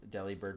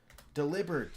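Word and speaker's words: Delibird: That's what I think when I heard Deli bird pronounced the way people normally say. Yeah. I mean that makes more sense for that for it to be in the deli instead of deliberate.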